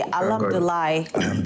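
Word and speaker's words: الحمد لله: How do you say Alhamdulillah?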